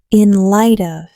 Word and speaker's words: in light of: The t in light almost disappears. It flows into the of inlight.